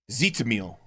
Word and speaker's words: Tzitzimitl: Tzitzimitl. Tzitzimitl. Tzitzimitl. Okay, it's not because I can't pronounce it, it's because I can't read it.